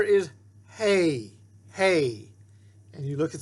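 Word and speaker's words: ה: So see, we call the letter a hay, we call it an H, but the sound for both of them is a like in hay, hay.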